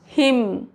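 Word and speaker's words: hymn: For example autumn M के बाद है तो एन साइलेंट हो जाएगा। हिम solemn column condemn N silent है।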